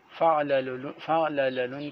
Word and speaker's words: فعللن: یہاں پر آپ دیکھیے یہ فعللن لکھا ہوا ہے، یہ غلط ہے، یہ کاتب کی غلطی ہے۔ صحیح یہ ہے کہ لام ثانی پر کسرہ ہے، فعللن اس طرح پڑھا جائے گا۔ فعللن کا تلفظ غلط ہے، صحیح تلفظ ہے فعللن، اس طرح پڑھنا چاہیے۔ تو اب آپ یہاں